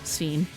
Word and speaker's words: Sven: Even though in Japanese they say Sven, it is in English Sven. So it is Sven.